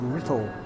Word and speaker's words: Writtle: There's a place called Writtle, spelt with a W-R, Writtle.